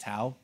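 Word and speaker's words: Tow: were up in their tau texas it's spelt toe t-o-w but it's pronounced tau and so i met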